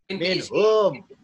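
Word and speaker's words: منهم: Minhum. Ya, saya tanyakan. Kenapa kok bacanya minhum? Tidak dibaca karena nyambung. Karena nyambung, benar. Alasannya karena nyambung. Kalau spasi, maka berbunyi manhum. Kalau bersambungan, minhum.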